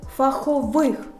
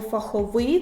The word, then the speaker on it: фахових: дочка принести кур'єрські послуги фахових бо фахових - це група слівна и уподобання бо це